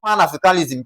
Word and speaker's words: Pan-Africanism: So, because it ends with -ism, we're going to what now? Ignore pan and then we're going to stress what now? A.